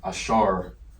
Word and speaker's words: Ashar: All right, Ah, okay, the A looking sound. All right, the Aleph is what it's called, that's the letter. And you got the Shah sound, it's just like a W, makes a Shah sound. And then the Ra, Ashar, all right, looks like